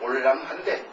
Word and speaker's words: 올량합: 그런데 원래 이것은 우리 두만강 밖에 여기에 여진족이 살던 지명이 바로 이것을 올량합이지만은 당시에 발음으로는 올랑하인데 그 올랑하가 우리식으로 발음이 돼가지고 오랑캐로 된 것이에요.